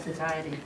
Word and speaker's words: satiety: How do you pronounce that? Satiety. Oh, really? Yeah. Holy cow! I never knew that. It's satiety.